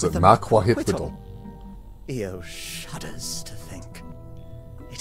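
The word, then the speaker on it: macuahuitl: Ooh, that's how you pronounce it. Makwahwittle.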